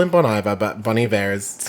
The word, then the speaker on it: Bon Iver: No, 85 is actually Bon Iver. Yeah. Like some people call him Bon Iver, but Bon Iver is how you one pronounce of it.